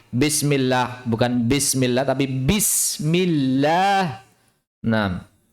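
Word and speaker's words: بسم الله الرحمن الرحيم: Bismillahirrahmanirrahim. Bukan bismillah, tapi bismillah. Oke, ba. Dengan merapatkan bibir. Bibir harus dirapatkan dan diucapkan secara alami.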